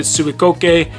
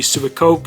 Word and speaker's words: Suicoke: into the brand itself now i pronounced it suikoke and that is pretty much how it's pronounced to my understanding a more westernized pronunciation would just be super coke as you can see